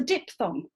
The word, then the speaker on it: diphthong: in question is a diphthong. Now, this is a picture of a diphthong. Yep, so it's dip and a thong here.